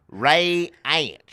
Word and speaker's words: Reince: Ray is like a ray, like a ray gun, and then ants crawling in your food. Ray ants.